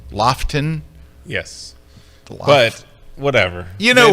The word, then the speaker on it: Lofoten: Dave Williams and I in the Lofoten Islands in early September. It's not pronounced Lofoten, right? It's Lofton.